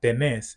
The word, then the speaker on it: tenés: Relatedly, for verbs that have a vowel changing stem, you'll notice that they don't have that vowel change because the stress no longer falls on that syllable.